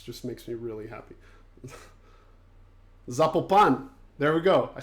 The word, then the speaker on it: Zapopan: Zapopan.